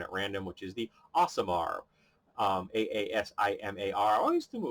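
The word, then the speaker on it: Aasimar: I didn't pick one at random, which is the Asamar.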